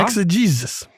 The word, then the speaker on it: exegesis: Exegesis. Mm-hmm. E-X-E-G-E-S-I-S. 4 syllables, a noun.